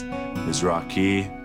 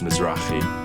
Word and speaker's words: Mizrachi: Pronunciation is actually it's Hebrew. Most people think it's Mizrachi, but it's Mizrachi.